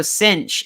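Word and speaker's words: CINH: juice and then also cinch is uh or I mean c NH I is pronounced cinch for some reason uh convective inhibition or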